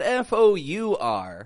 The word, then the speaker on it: for: grammar for for grammar notice how I'm not saying for grammar but I'm saying for fur I'm keeping the sound flat quick I'm not stretching that o out like a four gramar it's for grammar